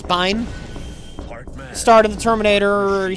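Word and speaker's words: Biehn: the voice actor um Michael Bane or Bine I don't know they're telling me his pronunciation was different I've always been saying it Michael Bane you are a but apparently it's Bine start in The Terminator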